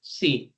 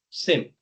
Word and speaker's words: SIEM: Some pronounce it SIEM, some pronounce it SIM, some pronounce it SIEM. I've been to multiple countries. I've been dealing with these solutions for the last 12, 15 years, and I've seen people pronouncing it, in different versions. Now, all of the versions are correct. There is nothing right and wrong.